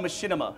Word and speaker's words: Machinima: So you guys do Machinima, right? Like that's your thing. Machinima, Christ almighty. I'm trying to like segue into Machinima. This is the research portion of everything. No, it's called Machinima.